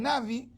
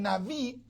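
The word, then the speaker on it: נביא: Algunos pronuncian Navi, otros pronuncian Naví, que es, hermano, un vocero de Dios.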